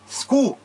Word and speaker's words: Cu: químico cobre é Cu, eu tenho que pronunciar Cu. Quando eu tenho Tu, eu não digo Tu, eu digo Tu. É o mesmo campo fonético.